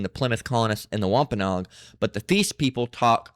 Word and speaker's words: Wampanoag: How do you pronounce this? You're looking at how to forgive American people 17th century, but today, Wampanoags. Wampanoag.